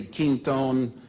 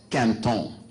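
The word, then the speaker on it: Quinton: that can't own okay some of you say King tone but the real French pronunciation is Canton president de Cantel is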